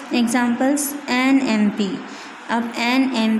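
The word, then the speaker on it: MP: Examples N एम पी। अब एन एम पी, यहाँ पे एम पी जो दिया the consonant एम पी is pronounced as एम।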